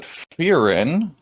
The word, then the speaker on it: Frieren: you were talking about Frieren. I'm gonna probably mess this one up, but I'm gonna give it a shot. Katakana, which is romanized as and pronounced as two syllables, Frieren, and not Fern, pronounced as Fern.